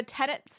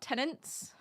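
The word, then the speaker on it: tenets: Remember tenants, not tenants. Are you ever going to let that go?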